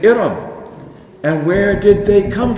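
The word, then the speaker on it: إرم: They spell it Alif Ra'min. That's Iram. They say Aram. Or they say Aram, but it is Iram.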